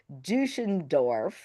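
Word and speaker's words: Deutschendorf: And his name was, for everybody who doesn't know, Henry John Duschendorf, if Yep. I pronounced it You correctly.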